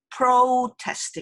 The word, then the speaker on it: protest: 근데 아까 나온 그 시위라는 뜻은 protest 이렇게 돼요. protest 이렇게 돼야지만 그러니까 조금 영어처럼 들리죠.